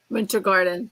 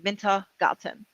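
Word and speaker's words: Wintergarten: winter like Winter Garden Winter Garden yeah but it's instead of a d it's a t in German minta gotten Winter Garden Oh okay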